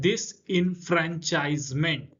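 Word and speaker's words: disenfranchisement: उसके अलावा तीसरा पे आता है डिसइनफ्रेंचाइजमेंट। प्रोनाउंस सही से कीजिएगा। डिस इनफ्रेंचाइजमेंट।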